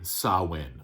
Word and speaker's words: Samhain: and actually for anybody who wants me to pronounce it correctly sawin okay there you go and last but not